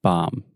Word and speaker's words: bomb: Mom okay just Mom with a B at the beginning bomb bomb yeah this is the